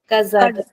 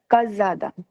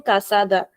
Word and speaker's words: casada: Anyone remembers why this particular S is pronounced as Z because yes Rikar no we are not talking about the C.